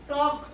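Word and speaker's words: talk: रहा है, तो आप देखो आप एल को प्रोनाउंस कर रहे हो। लेकिन जब आप कह रहे वॉक, टॉक, तो इन दोनों लफ्जों में क्योंकि मुंह खुल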